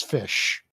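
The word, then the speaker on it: ghoti: The gh is pronounced as in the gh of enough.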